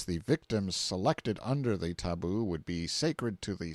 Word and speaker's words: tabu: concealed themselves in hiding places till the tabu pronounced taboo, means prohibition, we have borrowed it, or sacred. The tabu was sometimes permanent, sometimes temporary, and the person